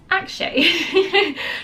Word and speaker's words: Akshay: was I think it was a trailer I pronounced his name incorrectly um is Akshay so I'm getting it correct this time around